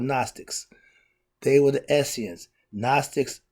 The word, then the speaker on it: Gnostics: Gnostics, the G is silent.